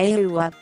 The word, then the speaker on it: A-WA: en mayo de 1948 agua es como un ok en árabe y se pronuncia el gua al igual que muchos